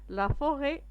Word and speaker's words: forêt: لا فوغي تي ما كنطقوهاش.